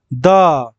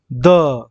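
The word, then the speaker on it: the: যদি আমরা দেখি যে আমার ওয়ার্ডটা যেটা রয়েছে টিএইচই দেওয়ার পরে যে ওয়ার্ডটা রয়েছে সেটা ভাওয়েল সাউন্ড হচ্ছে, ভাওয়েল সাউন্ড হচ্ছে, তাহলে সেটার উচ্চারণ হবে দি। আর যদি দেখি এই টিএইচ এর পর কনসোনেন্ট সাউন্ড হচ্ছে, তাহলে সেটা হবে দ্য, ঠিক আছে।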